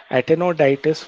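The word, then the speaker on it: Aptenodytes: pavocristata then the penguin so aptenoditis atenoditis where p is silent antenna diet is penguin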